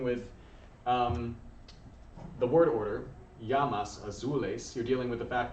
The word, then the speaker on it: llama: let you know uh lama is still llama in spanish he just pronounced it yama but l-l-a-m-e what what